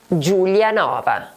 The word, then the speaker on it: Giulianova: The correct answer is number 2. GIU GIU Giulianova.